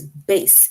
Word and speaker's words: bass: the word bass Bas rhymes with case that is how you